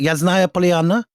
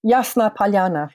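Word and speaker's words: Ясная Поляна: How do I pronounce it? Yasnaya Polyana? Yasna Polyana.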